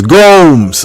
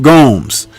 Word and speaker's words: Gomes: He says Gomes. Okay, I got you, Eric Gomes.